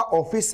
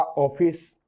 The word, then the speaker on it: ऑफिस: इसका उच्चारण न तो आ होता है, न आपका क्या होता है? ओ होता है। आ और ओ के बीच में होता है इसका उच्चारण।